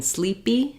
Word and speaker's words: sleepy: burst of air in sleepy sleepy um you can hear that it's not sleep PE I don't have that burst of air it's an unaspirated PE um so that's something